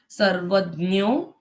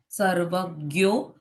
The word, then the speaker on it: सर्वज्ञ: इसलिए वो एक्सेप्टेड है संस्कृत में तीनों उच्चारण सही है आपको जो अच्छा लगे आपको जो बोलने में इजी लगे आप वो उच्चारण बोल सकते हो। सर्वज्ञ सर्वज्ञ या सर्वजनो कोई भी उच्चारण आप कर सकते हो।